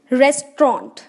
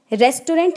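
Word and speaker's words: restaurant: लिखा है front रेस्ट्रॉन्ट अ गीत रेस्ट्रॉन्ट रेस्टोरेंट नहीं बोला है विहार डिन्नर रेस्ट्रॉन्ट अ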